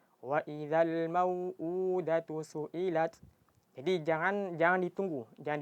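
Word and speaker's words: وَإِذَا الْمَوْءُودَةُ سُئِلَتْ: Jadi karena keseringan dari kita ketika membaca mad yang dua harakat itu seringnya bacanya lebih dari dua harakat. Jadi istilahnya itu attamtil namanya memanjangkan huruf di luar dari kadarnya. Jadi sering dari kita bacanya waidal mauudatu suilat. Jadi harus di harus dipanjangkan dengan dua harakat. Jadi caranya gimana? Caranya jangan terlalu dipanjangkan. Jadi kalau terasa udah cukup langsung langsung dipendekkan.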